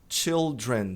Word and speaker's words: children: E crianças, ou filhos, filhas, children. Também tem que pronunciar o L.